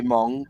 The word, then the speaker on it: Meng: saying you know yeah if we say Meng they say Mong but we say Tamia